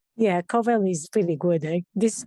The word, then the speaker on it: Covel: Yeah, Covel is pretty good. This is pronounceable. Most people don't guess it right. Co rhymes with toe and bell, but so most people kind of get it wrong.